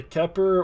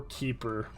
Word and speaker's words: Kheper: it I saw that there are two pronunciations we either have the keer or keeper now either one's going